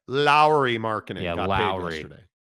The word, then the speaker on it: Lauri: gets into me about Lori Markin and talks about how the Salt Lake Tribune um published a story because I mispronounce Lori and I don't say Lowry marinin the proper pronunciation is Lowry marinin it's proper pronunciation great